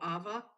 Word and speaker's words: Ava: apple it doesn't matter if different leather so ava is how i pronounce it yes but it starts with the